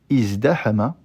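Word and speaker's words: ازدحم: Mais c'est pour ça que ces deux verbes, ici, vont subir cette transformation, et donc on dira plutôt izdahama et izdara'a.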